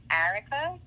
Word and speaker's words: Arika: Okay, so Arika with an A is my real first name, and it's pronounced Arika.